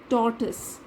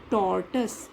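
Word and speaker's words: tortoise: D here और डी टोर्टोइस इसको हम लोग टॉयज नहीं बोलते हैं क्योंकि यह लिखा है कुछ मुश्किल शब्दों का उच्चारण लिखा हुआ है प्रनंसीएशन लिखा है टैर्ट्स डी प्रोवर्ब्स स्टोरी ऑफ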